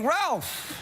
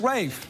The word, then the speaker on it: Ralph: Yeah, occasionally I'll get, hey, Ralph, you know. And I'll be Is it spelled that way? Yeah, it's spelled that way. Yeah. And I'll be, no, it's Rafe.